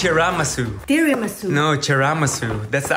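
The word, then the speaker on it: chashu: chanelas no I just bought it it's not pronounced tiasu Mom it's chasu tiasu no chasu that's the actual way to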